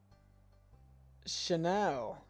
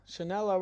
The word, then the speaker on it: Chanel: five people five people chanel chanella and you pronounce my name wrong in the cameo ask hamza he knows how to say it what chanella nope it shouldn't it's pronounced chanel it's thank you